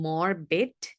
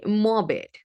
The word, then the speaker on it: morbid: I'm not saying morbid. This R here again is silent. Okay. So we say morbid, right?